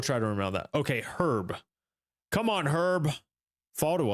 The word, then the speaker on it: Herb: You pronounce the H when it's a name. Okay. I will try to remember that. Okay. Herb.